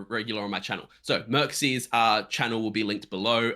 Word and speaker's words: Mircsy: How do you pronounce it again, Panda? Something. Mircsy.